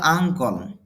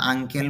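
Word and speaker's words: uncle: does you does your আঙ্কল যদিও এটা আমরা আঙ্কেল বলি তবে শুদ্ধ উচ্চারণ হলো আঙ্কল এখানে সাবজেক্ট হল ইউর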